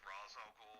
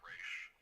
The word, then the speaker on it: Ra's al Ghul: Yeah, and I know her father's name is supposed to be pronounced Ra's al Ghul, but growing up with the animated series, I still say Raish.